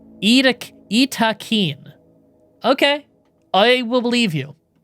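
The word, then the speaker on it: Yttakin: The official biotech news post said that is pronounced Itakeen. Itakeen.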